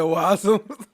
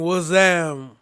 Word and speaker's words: wazam: You said wasm. It means what's up. Wasm. They both said it wrong. It means wazam.